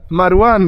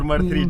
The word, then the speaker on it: Marwan: Marwan. Not Martu or Mar3, just Marwan, Martu, Mar3.